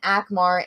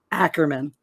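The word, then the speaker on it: Akerman: bang someone like maelyn akmar in her prime i feel an actor man does anyone know do i say it right no they spelled it right it says ackerman ackerman how was i saying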